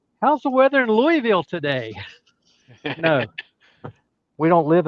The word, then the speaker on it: Louisville: No, wrong. It's not how you say it. Lewis. It's Louisville. Louisville. Louisville. You left half the words, the letters out. If you can say it in one syllable, you're even better.